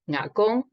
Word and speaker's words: Nga Gong: My maternal grandpa, pronouncing Shanghainese as Nga Gong, was the exclusive agent for Texaco in China for the provinces of Jiangsu and Anhui.